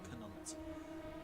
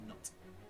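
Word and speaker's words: Knut: I'm not sure how you pronounce that, but I'm fair to say it's not Canut. Or Canut. It's just Nut.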